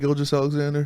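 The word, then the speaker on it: Gilgeous-Alexander: you say his name shake gil just alexander thank you yeah they said they would have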